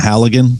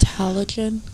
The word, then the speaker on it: Halligan: Wait, is it not pronounced halogen? Halogen? Like a bulb. It's a Halligan.